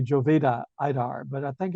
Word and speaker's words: Jovita Idar: idar somebody might say Jovita idar but I think it's pronounced uh J as H and I as e in Spanish somebody correct me if